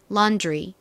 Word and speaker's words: laundry: 방울 들어가게 됩니다 그래서 런드리 가 아니라 미국식 발음으로는 laundry laundry 이렇게지 소리를 살짝 넣어서 발음해 주시면 됩니다이 단어도